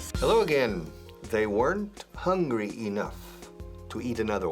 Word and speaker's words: weren't: Escrito weren't. Pero no se pronuncia weren't, el pasado de verbo to be. I was, you were, they were. Negativo, they weren't. Weren't. Eran, no eran. Estaban, no estaban. They weren't. Una sola sílaba. Pam.